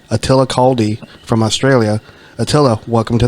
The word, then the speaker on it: Attila Kaldy: in our Mist I I'm hoping I I pronounce his name right because I always butcher names Attila kaldi from Australia Attila welcome to the club thank